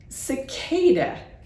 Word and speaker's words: cicada: the book and it also has an S sound if you look up other insects that have an S sound for the sea cicada is one of those and it might be